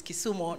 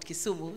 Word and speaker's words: Kisumu: Your Excellency, Governor of Kisumu, I'm told it's Kisumu, not Kisumu, so I shall pronounce it correctly.